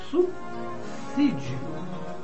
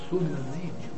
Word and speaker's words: subsídio: A pronúncia do vocábulo ali é subsídio, não subsídio.